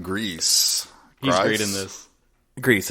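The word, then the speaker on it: Gries: Grease, I think. Yeah, I think that's how they pronounced it in the I think documentary.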